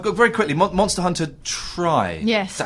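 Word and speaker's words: Tri: Monster Hunter Try. Yes. Is that how you pronounce it? I never know how to pronounce it. Tree. No, it's Try. It's Try.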